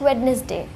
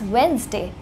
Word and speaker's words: Wednesday: इट्स नॉट वेडनेसडे, इट्स वेंसडे. D silent होता है इस वर्ड में, लेकिन आज तक हमें पता ही नहीं था, राइट?